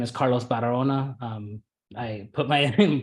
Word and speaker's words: Barahona: My name is Carlos Barahona. I put my pronunciation in there, like just it's not a very common name, but the main thing for my name is leave out the H basically.